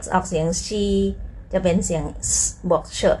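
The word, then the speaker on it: 西: ต่อ ไป นะ คะ ตัว X ออก เสียง She จะ เป็น เสียง บวก เฉอะ นิด นึง นะ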